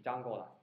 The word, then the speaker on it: Django: 那个 D 不发音，或者说你可以理解为 D 跟 J 读的是一个知的音，是 Django。